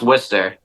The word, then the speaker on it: Worcester: So it's pronounced Worcester. Okay. It's a common mistake. Yeah. Everyone pronounces it like incorrectly, and until you meet a true Worcesterite, they'll like let you know. Okay. But if you want to say it like us, though, it's Worcester. WOOSTAH.